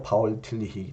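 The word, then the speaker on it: Paul Tillich: 신학자 입니다 그렇기 때문에 독일 사람으로서 독일 발음으로 바울 틀리기 라고 말하고 미국식 바로 분 포 올 팀 닉 허벅 틸리 c 이렇게 이제 조금 다양하게 발음 하시어 이 파운 틀니가 내게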